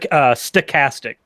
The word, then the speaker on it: stochastic: I love this concept it is no such stochastic though the the pronunciation matters only because stochastic means random so sarcastic stochastic terrorism